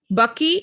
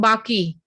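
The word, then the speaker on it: Baqi: the term of he was buried in bucky it cannot become bhaki it cannot there are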